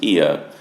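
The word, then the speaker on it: Oia: on the edge edge of the island um IIA which is where we are that's spelled o i a but pronounced IIA is uh perhaps the most picturesque of those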